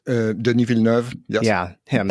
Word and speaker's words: Denis Villeneuve: But it's worth seeing just to see, how visionary, I don't know how to pronounce his name, Denis Villeneuve? Denis Villeneuve, yes.